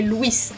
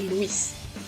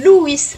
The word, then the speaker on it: Luís: Je m'appelle Louis mais les Français d'habitude m'appellent Louis. Il y a deux syllabes mais les français le prononcent en une syllabe.